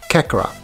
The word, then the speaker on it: Kakarot: Kakarot.